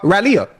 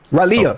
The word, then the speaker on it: Raleigh: I've been to uh Raleia. I've been to Ralia.